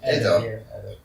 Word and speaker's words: Eder: Eder, what's the proper pronunciation? Eder.